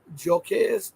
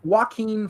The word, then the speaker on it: Joaquin: One has gotten back with me, and I'm waiting for Joquez. How do you pronounce his name? Joaquin Flores is fantastic.